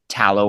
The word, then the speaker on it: Talo: So, um our Instagram handle uh which is where we're most active is just tallow organic, but Tallow is spelled T A L O.